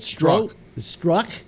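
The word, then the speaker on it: Strzok: Well, part of it was that, and I have trouble pronouncing his name, but Struck. Is that how it's pronounced? Yeah, the Z is silent, I think.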